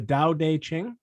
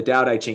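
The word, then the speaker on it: Tao Te Ching: the life so what is that again the dao day qing yeah the doubt aging it's spelt t-a-o t-e and then c-h-i-n-g and it's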